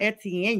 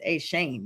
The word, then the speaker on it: Etienne: So this brings in Trevor Shane. Let me get his name correct because I heard that it's not Etienne, you guys. His brother's like, it's Shane.